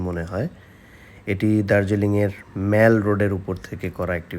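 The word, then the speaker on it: Mall: এখানে যাওয়ার আগে অনেকগুলো ভিডিও দেখে গেছি এবং সবাই এই জায়গাটাকে মেল রোড বলে। মেল বানানটা এম এ ডবল এল। আমরা যেটাকে মল বলি এবং আমি ডিকশনারি চেক করে দেখলাম এটার উচ্চারণ মল। মেল নয়।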